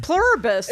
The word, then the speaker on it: Pluribus: No, I think it's just pluribus. I It's just pluribus. It's just pluribus. It's just pluribus. It's just pluribus.